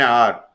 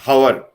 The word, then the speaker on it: hour: At the same time, an R. Here H is silent. When we pronounce an R, it is not hour. Ha is not pronounced, though the spelling is H-O-U-R.